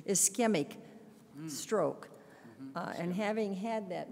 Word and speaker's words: ischemic: right through this foot of the is is semuc what is the I'm sorry I'm doing the wrong pronunciation ischemic stroke and having had that myself and being